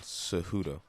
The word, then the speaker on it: Cejudo: Cejudo.